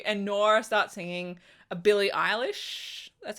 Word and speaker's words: Billie Eilish: Anyway, they were doing karaoke and Nora starts singing a Billie Eilish, that's how you say her name, song.